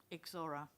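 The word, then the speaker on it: Ixora: one of the names iix o r a exora sorry the o r a exora exora thank you any other questions Council Sergeant thank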